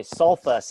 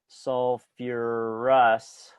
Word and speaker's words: sulfurous: So this is actually sulfurous. I don't say sulfus acid.